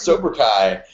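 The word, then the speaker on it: Sobrukai: He's like, "How do you pronounce Soberai?" I'm like, " like like Kai."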